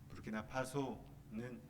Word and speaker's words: 부르키나파소: 프랑스어도 아니고요. 프랑스 식민지로 있었지만 나라 이름은 또 프랑스어 발음은 아니더라고요. 부르키나파소는 서부 아프리카에 있는데요.